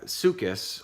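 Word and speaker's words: Succoth: jacob jacob journey to Lucas that's a pronunciation according to a check that I did and built for himself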